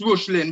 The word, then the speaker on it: Reuchlin: Okay, it's Johannes Rushlin, but it's spelled Johannes for Johannes. Okay. And Rushlin is Reuchlin.